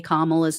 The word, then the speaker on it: Kamala: voting in 2024, because anyone who still can't say Kamala's name right, they're clearly someone who is not paying attention. Like, you have to go out of your way to not say her name right. It's not hard. Kamala.